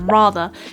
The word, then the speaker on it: rather: we can look at there's firstly this non- rotic r at the end which is quintessentially British along with the schwar sound at the end and did you notice that at the start of the word rather we actually have the long wide R sound which is present in